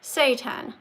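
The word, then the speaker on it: seitan: It's pronounced satan. Satan.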